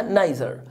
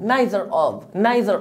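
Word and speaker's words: neither: يعني ولا واحد منهم لو سمعتها ميزه مش غلط فهو صح برضو عشان ما تستغربش لو سمعتها ليزر او نيزر صح ولكن النطق الشائع لها نيزر نيزر مايلزر اوف يعني ولا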